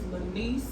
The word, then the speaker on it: Lanese: It is Lanese, LANESE_speaks.